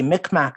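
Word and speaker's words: Mi'kmaq: Hunter Birds is actually a mcmack story or mcmah story depending on how you pronounce it it's a story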